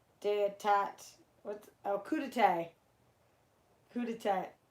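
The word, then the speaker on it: coup d'état: attacked with Okuda tag coup de tat is how you say that word on live well you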